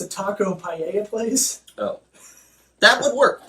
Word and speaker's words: paella: It's a taco paella place. Oh. That would work. That works still. I'd eat there. I would eat there. Okay, I take it back. The double L's aren't pronounced like L's, so that works.